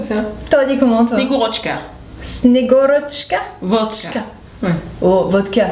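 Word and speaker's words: Снегурочка: Snegorochka. Snegorochka. Vodka. Ouais. Oh, vodka, c'est la même chose. Snegorochka. Tania m'a dit qu'il faut bien prononcer le tchka.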